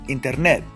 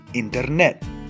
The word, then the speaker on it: internet: on the last syllable Internet I don't say internet internet it's Internet you can hear my stress el acento tonico on the very last syllable so with those two